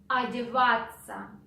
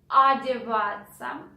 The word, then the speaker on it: Одеваться: So we write O, but since it is not stressed, we pronounce A. Одеваться.